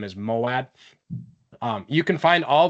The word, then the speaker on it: Moawad: today and confirmed that his last name is moad um you can find all these episodes on